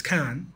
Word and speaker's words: Cannes: It's spelled Cannes, so it's Cannes.